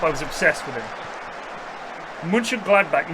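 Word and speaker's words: Mönchengladbach: Munch Gladback, not Munchin.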